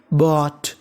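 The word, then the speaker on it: bought: GHT को हम लोग इंग्लिश में पढ़ते हैं टा। क्या पढ़ते हैं? टा। और आगे लिखा है BOU, तो मीनिंग बन गई बॉट, बॉट।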